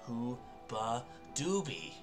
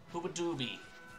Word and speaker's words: Hoobadooby: i'm just gonna come hoo dooby oh i've been saying that's why they're not responding because i'm saying it wrong hooba doobie yay seriously i